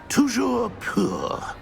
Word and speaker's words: Toujours pur: And, of course, as Master knows, in French.